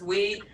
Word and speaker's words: ue: U-E is pronounced we.